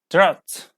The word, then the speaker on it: drought: France are those with a silent G and H combination like drought drought okay okay new